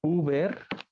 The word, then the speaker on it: über: Es eso, UVA, la U con diéresis, se pronuncia como una U francesa, U.